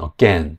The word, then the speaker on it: again: 없습니다 그리고 ura AG도 발음을 찾아보면 again 뒷 음절의 강세가 있거든요 강세가 없는 음절의 모음은